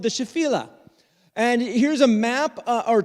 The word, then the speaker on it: Shephelah: it throughout this time it is shephelah uh i will probably say shephelah because that's kind of how i first heard it or shafila that's that's not right either shephelah okay so anyways